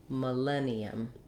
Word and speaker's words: millennium: our stressed syllable len that's where i'm going to be long i'm going to hold that len with a clear vowel i have a tense e and then another schwa sound millennium millennium so when i'm talking